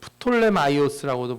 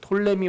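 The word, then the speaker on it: Ptolemy: 그 프톨레마이오스라고도 부르고 뭐 톨레미 왕조라고도 불러요. 저 앞에 그 P가 묵음으로 읽기도 하고 어떤 사람들은 저렇게 그냥 읽기도 하고 그래요.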